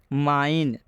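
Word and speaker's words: mine: माइन में भी आप देख सकते हैं आई आया हुआ है, आई के बाद से एन आया है। एन आपके लिए क्या है? कॉन्सोनेंट है और अंत में ई आया है, इसलिए इस आई का उच्चारण क्या हो जाएगा? आई हो जाएगा।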